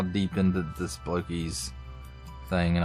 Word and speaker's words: Blokees: how deep into this bloky thing and I'm sure I mispronounce that cuz everybody else says blockies but I think it looks more bloes than blockies that's just me your mileage of course